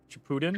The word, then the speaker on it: Shippuden: Shippuden.